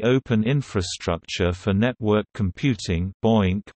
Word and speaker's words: BOINC: The Berkeley Open Infrastructure for Network Computing (BOINC), pronounced, rhymes with oink.